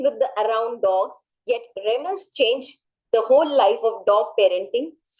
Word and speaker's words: Remus: Okay, you will pronounce it for me. Remus.